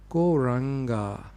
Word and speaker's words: Gauranga: Gauranga means the Golden Lord of Love. And it actually has 4 syllables. Go-ra-anga.